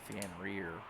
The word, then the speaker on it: Fenrir: I do know how that you pronounce that one. It's definitely Fenrir. I was surprised Seraphim didn't heal us more than it did.